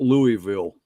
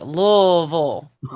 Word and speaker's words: Louisville: I started out Louisville, Okay. but then I worked with this guy years and years ago, and he made it one syllable.